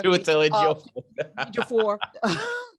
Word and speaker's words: Ejiofor: Ejiofor.